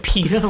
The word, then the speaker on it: Peeta: They like Peeta, like the bread. Spelled with 2 E's and not an I.